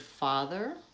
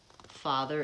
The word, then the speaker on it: father: words the Oh father father is not as rounded so when I say the word father that has the vowel ah father is more like hot and not ah that's an open vowel father what verses law